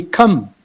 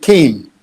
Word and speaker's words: came: came came cane now quite often for some reason uh the students say come instead it came came okay early early people